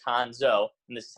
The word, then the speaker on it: Cuonzo: lot of people get confused and pronoun see Kwanzaa so I'm gonna put in taps next to it the proper pronunciation in parentheses of his name so I'm